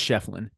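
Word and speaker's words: Schieffelin: game and basically PJ Hall and am I pronouncing that correctly is it is it shyen it's shefflin shefflin okay my apologies uh they were just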